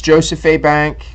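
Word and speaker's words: Jos. A. Bank: so Joseph a bank I guess it's it's abbreviated I'm I'm I'm I know it's Joseph a bank that's how you pronounce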